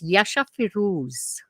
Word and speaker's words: Yasha Firooz: And can you just pronounce that man's name? Oh my God, it's Yasha Firouz.